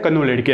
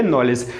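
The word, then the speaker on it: knowledge: तो जब भी आपको बोला जाता है कि नॉलेज की स्पेलिंग लिखो तो हम अपने आप में मन में तो क्या बोलते हैं, कनोलेडिके, क्या बोलते हैं, कनोलेडिके, लेकिन है क्या ये नॉलेज, ठीक है ना।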